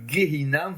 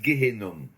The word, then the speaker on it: גיהנם: D'abord, il faut bien le prononcer, c'est le Gehinam, c'est pas le Gehenom.